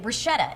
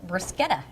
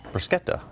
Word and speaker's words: bruschetta: Bruschetta is how I pronounce it, but Scott says in Italy it's pronounced bruschetta. Bruschetta.